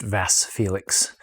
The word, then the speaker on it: Vasse Felix: about 22 and so Amanda assures me that it's pronounced vas Felix as far as we